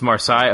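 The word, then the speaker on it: Marseille: for I don't know how to say it pronounce the name I guess it's a French or side it's marsai okay that's why thank you so five fingers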